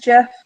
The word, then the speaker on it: GIF: rape people's intelligence on whether they pronounce it Jeff or gift because I understand the guy who invented it says Jeff but it's gif so you can just